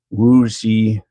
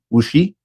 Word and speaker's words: Wu Xi: Wu Xi. XI is pronounced like she, Wu Xi.